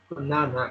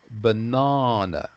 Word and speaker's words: banana: interrupt you, Dudongli, but you need to pronounce that fruit banana. Banana. Banana. Banana. So Banana. it's a bit of a longer sound. It's not like banana, but banana. Banana.